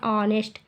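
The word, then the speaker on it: honest: farmer the ऑनेस्ट farmer यहां पर देखिए एच साइलेंट होता है हम इसको पढ़ते हैं ऑनेस्ट ऑनेस्ट मतलब होता है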